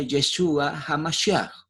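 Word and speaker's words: ישוע המשיח: Y eso se le llama en el hebreo y se pronuncia Yeshua HaMashiach.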